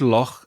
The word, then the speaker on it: Loch: We had Loch a couple of episodes ago. It's Loch. coming back. Yes, the lake. Loch is lake in Irish.